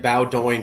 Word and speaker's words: Bowdoin: I've said Bowdoin for 5 videos now. Now I know. It's Bowdoin. Nobody gets it right. That's no problem. Everybody gets it wrong. It's a small Bowdoin college.